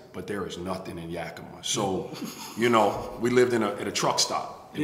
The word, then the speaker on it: Yakima: And then, so then you end up going to, how you pronounce it, man? Yakima? I went out to Yakima.